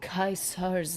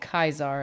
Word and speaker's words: Caesar: Isn't that the language of Caesar's Legion? I know it's Caesar's. Everybody's pronouncing it Kaiser, and it's confusing.